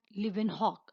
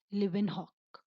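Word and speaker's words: Leeuwenhoek: one and torn Van Leeuwen hook Anton van live in Hawke I repeated once again I'm torn van live in Hawke ok now we will see what was the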